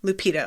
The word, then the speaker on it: Lupita: Lupita? The one from Black Panther, Lupita.